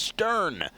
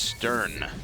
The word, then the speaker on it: S7: as well absolute Legends it looks like S7 to us silly people here but apparently his name is pronounced Stern so there you have it it is Stern sure why not and